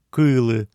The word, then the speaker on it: кылы: Еще надо заметить, что ударение падает на первый слог смыслового глагола «кылы», «кыле».